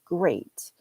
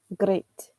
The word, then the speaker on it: great: the same error so he knows how to say the word great but he says it with the Spanish R so and I'm not very good at this but it comes out as great great so because he you